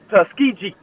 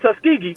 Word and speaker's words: Tuskegee: you know last week miles defeated tus tuskiji not Tuskegee Tusk so that that irks me when they mispronounce our school things uh folks all corn it's all Banning and it's tusky G not tusky g anyway made the fact